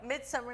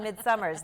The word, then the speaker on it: Midsummer: Midsummer Night's Dream. Yes. Yes. I always want to put an S on Midsummer's there, and it's not right.